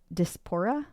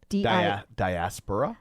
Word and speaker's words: diaspora: symbol of homesickness and the despora dis how do you say that? Diaspora diaspora.